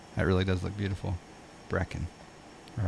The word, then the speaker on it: Brecon: Brecon is it Brecon is it like breakfast like Brecon Brecon alright Brecon thank you that's the